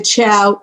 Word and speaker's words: qiao: The Chao. Okay, good. The Chao is spelled QIAO, and the do, DU, and that's equivalent to doing.